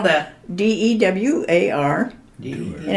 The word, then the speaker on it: Dewar: How do you spell that? D-E-W-A-R.